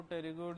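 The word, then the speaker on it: pterygoid: प्रीमैगिला तीसरी पैलेटाइन चौथी ध्यान रखना इसके अंदर पी साइलेंट है क्या नाम है टेरीगोइड फिर लेकिमल उसके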